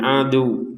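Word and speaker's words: عدو: Nah, untuk wawunya kita tekan karena ada tasydidnya ya. Ketika berhenti di sini adu. Jadi tetap harus ada tekanannya wawu. Jadi misalkan tidak ada tekanan, kita bacanya li ba'din adu selesai. Tidak ada tekanan, adu gitu saja. Tapi kalau ada tasydidnya wajib ditekan.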